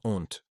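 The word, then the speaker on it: aunt: Une tente est une honte. Attention à la prononciation qui ressemble au mot fourmi.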